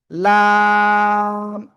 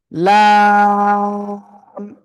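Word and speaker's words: لام: আমরা এটা উচ্চারণ করব লাম ওকে জিহ্বার আগার কিনারা উপরে মাড়ির দাঁতের গোড়ার সাথে লাগিয়ে জিহ্বার আগার কিনারা উপরে মাড়ির দাঁতের গোড়ার সাথে লাগিয়ে আমরা এই অক্ষরটা উচ্চারণ করব এবং চার আলিফ টেনে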